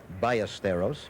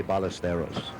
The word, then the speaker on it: Ballesteros: miller and sevi balasteros in his country it would be pronounced biosteros but i understand in an effort to make it easier for his american friends he says call me balosteros no big thing this